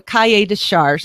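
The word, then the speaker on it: cahier des charges: learn you pull up what they call the kaya discharge it's spelled c-a-h-i-e-r-d-e-s-c-h-a-r-g-e-s you pull that up and it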